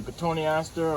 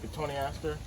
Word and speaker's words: Cotoneaster: It's a Cotoneaster or Cotoneaster. There's a lot of people pronounce it differently. I pronounce it Cotoneaster. Sometimes I say Cotoneaster.